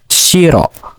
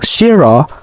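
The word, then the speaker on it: しろ: And the fourth word is shiro. So shiro has two syllables.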